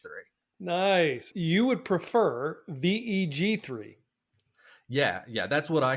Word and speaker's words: Veg3: how we pronounce it what I like is veg3 it's a little bit of a on Words With gpt3 which is the underlying technology